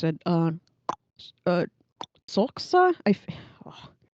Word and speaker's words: Xhosa: Uh, Xhosa. Oh. It's one of the languages of the African continent, which is Xhosa. But they say it. It kind of sounds you're clicking your tongue, but you're not really clicking your tongue.